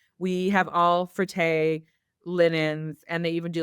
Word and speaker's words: Frette: It's fret. What is it? Frette. Frette. Okay. So like Yeah. a couple times I've had homeowners where they're like, we have all frette linens, and they even do like the kitchen towel.